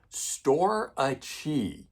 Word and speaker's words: Storace: Storace. Okay, I don't know how else you guys want me to say it. I'm phonetically pronouncing it as best I can when you guys spell it out to me.